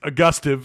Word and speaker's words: Augustave: did you go last name difficult to pronounce uh i think it's a gustiv is how you're supposed to pronounce it isaiah augustine six